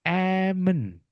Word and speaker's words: almond: But in English everyone, we have to say Amen. Amen. Amen. Without M. Without M, Teman-tan.